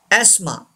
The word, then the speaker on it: asthma: Yes, we don't pronounce th. Asthma.